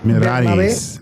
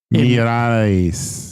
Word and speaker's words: Miralles: Miralles. I said Bernabe Zapata Miralles. You don't pronounce the L? Miralles. Isn't that the way, like... So the 2 L's is like a Y.